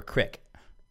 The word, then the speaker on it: creek: smaller than a river, is it pronounced creek or crick? And then he says, hint, it's crick. It's creek. Here's what... I say creek. Dawson's I what? Wish. What was that show called? Dawson's Creek. Here's the thing. It's crick if you're southern as hell, which I wish I pronounced it crick.